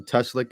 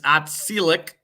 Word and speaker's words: Otselic: Oh, Teslick and a Oriskany. I say it right? No, it's Otselic.